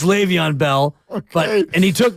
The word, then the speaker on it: Le'Veon: the lead back and I pronounce it that way because that's how my son Quest would he thought his name was leavon Bell it's Le'Veon Bell but and he took leavon Bell and he won the